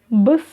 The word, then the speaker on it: Біз: Первое слово «быс», «быс», «быс». Здесь нет ничего сложного, мы с вами видим палочку с точкой.